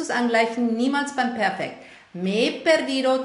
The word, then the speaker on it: me he perdido: Me perdido, zwei E-Laute stoßen zusammen, durch das H getrennt, was sowieso keine Rolle spielt bei der Aussprache.